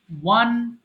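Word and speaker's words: won: মানে জয় লাভ করা ওয়ান ওয়ান আমরা এটা সারাজীবন অনেকেই ভুল করে আসছি 95% পিপল আমরা বলি উইন ওন এটা কিন্তু উন হবে না আমরা ওয়ান টু থ্রি বলি এটার উচ্চারণ হবে ওয়ান ওয়ান এরপরে বলেন ওয়াইপ মানে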